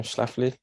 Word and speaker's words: Schlafly: So there's a lady called Phyllis Schlafly, that's how you say her name, Schlafly, a conservative lawyer and